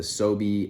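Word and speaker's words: SoBe: Utah and I had a dream about the soie energy drinks and if you're not familiar with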